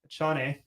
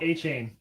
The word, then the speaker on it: Achane: One of the top fantasy running backs, Devin, Achane. No. Achane.